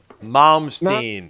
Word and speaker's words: Malmsteen: Malmsteen. Imbe Malmsteen. That's the guy's name. Yinghui Malmsteen. Imbe Malmsteen. That's how it's pronounced.